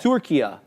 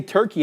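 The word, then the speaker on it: Türkiye: they say it locally turkia right you don't say turkey anymore you're saying turkia right which is how it's said in Arabic which funny enough but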